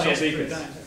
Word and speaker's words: Chialdikas: It got butchered a little bit earlier, but It's Chialdikas.